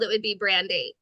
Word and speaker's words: Brandei: It's pronounced Brandei, because Is it Brandei? I didn't know it was Brandei. Why didn't you tell me that? Oh no, I've been calling you Brandy since I met you.